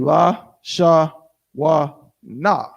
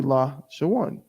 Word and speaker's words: Lashawan: So it would be la, sha, wa, na. But it's not, because that's 4 syllables. We need it to be la, sha, one.